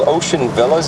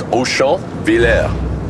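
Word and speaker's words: Auchonvillers: Yeah, well, actually, the town's real name is Auchan-Villers. But of course, the troops during World War I couldn't pronounce it properly, so they nicknamed it Ocean Villas.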